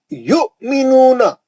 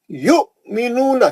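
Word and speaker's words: يُؤْمِنُونَ: है आपको आयत जो मैं लाल करा, अल्लज़ीना युमिनूना, युमिनूना, क्यों? हमजा पे जज़म है, वहां वाव तो खाली साइलेंट है, हमजा लिखने के वास्ते इस्तेमाल करा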